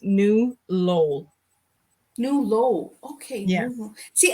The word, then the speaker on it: New Lowell: The city I live in is actually pronounced New Lowell.